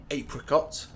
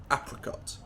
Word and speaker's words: apricot: Americans would say adult apricot in British English would be apricot in American English brochure in British English